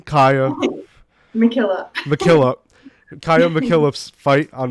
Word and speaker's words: MacKillop: right can you say your last name Ka mckillop mckillop Kaa mckillop fight on March 9th at